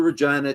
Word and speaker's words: Regina: comedian that comes through Regina to say, A, it rhymes with fun, it sounds like vagina.